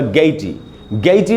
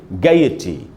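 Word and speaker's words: gaiety: ये रखनी चाहिए कि जनरली हमको लगता है कि इसका उच्चारण होगा गैटी नहीं है दोस्तों। गै के बाद आधा अ जितना अगर हम हिंदी में बोल सकते तो कितना बोलते उतना ही बोलना चाहिए। इसको पढ़ेंगे गैयटी, मैं आधा अ भी बीच में बोल रहा हूँ, गैयटी।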